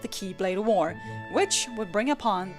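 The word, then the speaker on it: χ-blade: out of mankind's reach the axe blade is correctly pronounced Keyblade however I will continue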